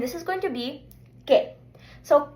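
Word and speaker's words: qué: So the pronunciation as already said is K. It's really nice and short. So let's just practice. Repeat after me. K.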